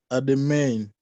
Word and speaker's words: à demain: Then this one, À demain. à demain. You remember Demain. the in, this in nasal sound. Umbrella. Remember the reference I gave you, umbrella. Yes. So you say à demain.